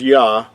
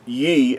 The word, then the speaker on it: Yah: We talked about the first two letters of the Creator's name would be pronounced as Yah and not in Ye, as sometimes you might see if you were